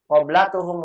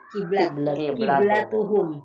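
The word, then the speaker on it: قبلتهم: Qoblatuhum wahidah. Ciuman mereka satu. Nggak nyambung. Yang betul dibacanya apa? Qiblatuhum. Ya, hati-hati nih makanya ya.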